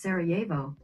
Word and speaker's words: Sarajevo: That's pronounced Sarajevo.